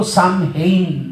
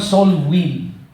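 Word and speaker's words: Samhain: doun sa tinatawag na hindi po Sam Hain ang pronunciation yyan kasi It is a celtic or celtic sa tawag natin pero ang pronunciation ho kasi nung celtic ay celtic kaya parang kel ang dating no parang Col kundi celtic word ho yan at ang pronunciation po diyan is win parang sou win so win Hindi po siya Sam sn at ang tawag diyan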